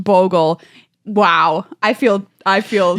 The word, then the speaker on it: Bogle: up with a wonderful assortment of auras it's pronounced Bogle wow I feel I feel you should feel